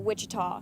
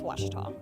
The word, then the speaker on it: Ouachita: Back in Texas, everybody pronounces it Wichita, but really it's Ouachita.